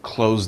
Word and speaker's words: close: Close the door. This is the same pronunciation.